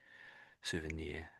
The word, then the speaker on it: souvenir: Souvenir, yes. Souvenir. You don't normally think as NIR as being near, but it is here, I guess, in this case.